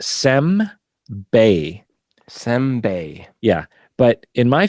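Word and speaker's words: 煎餅: So it's pronounced sem-bei. Senbei. Yeah. But in my family, we called it sim-be. Simbe. Sim-be, not sem-bei. Like neither syllable is correct.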